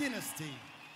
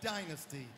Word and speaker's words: Dynasty: That's how you say it. Dynasty. And we're in your neck of the woods, so we will say it as you say it. Back home, it's Dynasty.